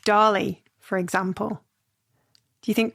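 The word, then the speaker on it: DALL-E: that one where Dolly. Dolly. I think I think yeah, as in Salvador Dali, but I think they I think they spell it d a l l e.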